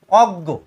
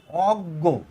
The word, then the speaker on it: অজ্ঞ: অর্থ মূর্খ অথবা জ্ঞানহীন আচ্ছা এইবার এই অজ্ঞ উচ্চারণ হচ্ছে কিরকম অ গ অজ্ঞ এখানে বর্গীয় জ বা ইয় ওর কোন উচ্চারণ